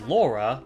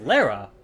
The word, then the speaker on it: Lara: All the American actors pronounce her name as Laura, but all the British actors pronounce her name as Lara, how it's originally intended.